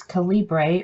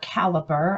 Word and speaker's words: Calibre: about how to use Calibre or caliber I've heard it pronounced both ways it's a free program